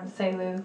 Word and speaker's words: Selu: So women, both as the subject of traditional stories, like Selu, am I pronouncing it right? Selu. Selu, yeah.